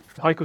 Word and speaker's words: HIO: that thank you all hio stands for hybrid Cloud up time okay so it kind of rhymes with the Japanese poem Haiku so small and but